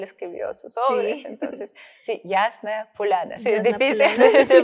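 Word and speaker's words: Ясная Поляна: que es tu revista, Yasna Polania. ¿Lo pronuncié bien? Polana.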